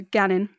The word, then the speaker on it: gannin: It's the abbreviation for going, but it's spelt with a hard A, so gannin.